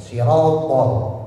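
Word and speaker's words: صِرَاط: Kadang orang ngucap th itu kayak hames. Sengaja dikasih desis. Ya siropol. Nah, itu enggak boleh. Jadi th itu dia enggak punya desis. Yang punya desis itu ta. Kalau ta dia punya desis atau istilah dalam bahasa tahsin namanya samar alias hams. Ya, kalau ta dia punya anamta nastain. Nah, itu ada. Tapi kalau enggak makanya jangan dipakaiin hames. Sirat enggak boleh ya.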